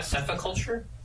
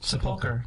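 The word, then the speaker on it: Sepulchre: I thought it was a sephoculture. No. Does the new What? There's a ch in there. I understand. Does the new set come with a dictionary like a Webster or something like that? No, no, it's seriously not sephulture. How do you say it? Seapulkar. Seapulkar.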